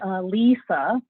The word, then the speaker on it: Alyssa: Ah-LEE-sah is how you pronounce it. I know there's this other Alyssa person that is very popular, but we don't pronounce it that way.